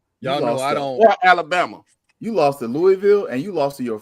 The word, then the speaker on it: Louisville: You lost at home to Louis to Lewisville. I'mma say it wrong on purpose. It's Louisville.